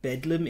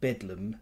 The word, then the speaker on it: Bedlam: Bethlehem Royal hospital and it became called bedum because of pronunciation through like pronunciation changed a great deal in the uh English